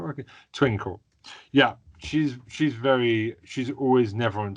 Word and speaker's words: Twinkle: I love how Twinkie. Oh no, I've said her name wrong, haven't I? My brain's not working. Twinkle.